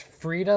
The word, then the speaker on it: Frida: Yeah, it's Frida, like Frida Kahlo. If you know who Frida Kahlo is.